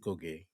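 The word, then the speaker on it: Ngũgĩ: It's spelled Ngoge, but it's pronounced Goge.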